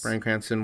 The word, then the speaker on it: Bryan Cranston: Hart's comedy to make it funny, and maybe Bryan Cranston Did I say his name right? Yes. Bryan Cranston will be, like super, super dramatic while Kevin Hart's being super, super comedic.